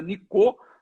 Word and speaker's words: Nicot: Que tem T mudo no final. Em francês se pronuncia Nicot, só que deu origem à nicotina.